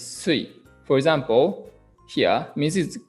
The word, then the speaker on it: 水: Okay, kunyomi is mizu, water. Onyomi is sui.